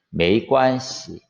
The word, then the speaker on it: 没关系: 메이관시. 시도 가볍게.